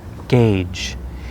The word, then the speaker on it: gauge: quickly this next one it looks like gouge but the correct pronunciation is gauge and it means to